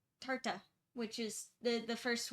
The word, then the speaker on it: Tartah: So Oh, it's uh tarta, which is the the